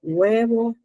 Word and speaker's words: huevo: El uso de la H no se pronuncia en palabras como huevo o hora, ¿verdad?